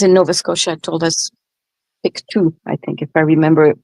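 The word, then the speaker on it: Pictou: Oh, Chrissa, Piku is pronounced pictoe. Okay, thank you. Thank you for that. I appreciate it. Was Kent who lives in Nova Scotia told us Pikto, I think, if I remember that it was Kent.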